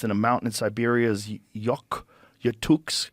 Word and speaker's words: Yakutsk: He first discovered this ancient bacteria, Bacillus F, in 2009, frozen deep in the permafrost in a mountain in Siberia's Yakutsk.